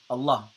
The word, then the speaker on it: Allah: Uh, it's not Allah. It's Allah.